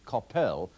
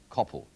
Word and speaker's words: Coppell: in fact it should not be Copple but Coppell as in hell all I can say to